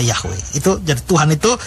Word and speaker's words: Yahweh: Nah, kalau saudara ketemu Tuhan huruf besar semua, itu dari bahasa Ibrani 4 huruf mati, tetragrammaton, Yod, He, Waw, He, atau Y-H-W-H yang kita baca Yahweh.